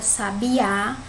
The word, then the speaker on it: sabiá: Se tem um acento aqui, a gente já sabe que essa é a sílaba tônica, né?